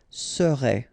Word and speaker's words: serait: Keep in mind that when we've got like that, you really pronounce it so serait. Okay, I together, est, serait. Okay, the first S is quite strong.